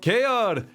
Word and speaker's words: Keor: I love it with the hard R. I don't say it to myself that often, so I guess it's free to interpret. That was actually, yeah, that's